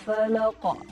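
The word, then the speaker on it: فلق: Nah, di ujung-ujungnya itu banyak yang mereka mengqalqalahkannya itu menambahkan hamzah. Contoh, Qul a'udzu birabbil falaq. Nah, falaq. Nah, itu seperti ada hamzah setelah qalqalah. Padahal insyaallah bacanya adalah Qul a'udzu birabbil falaq.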